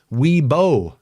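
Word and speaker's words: Wibaux: in y boxes how it's spelled but we pronounce it how weeo that's right weebo Montana okay that storm now with the warned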